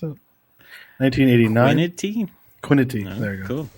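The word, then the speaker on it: Kwitny: Iced, Jeff Quinty? Is that how you pronounce it? 1989. Quinity.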